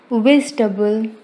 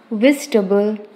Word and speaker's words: vegetable: Vegetable. Vegetable. Friends, it's not vegetable, it is vegetable.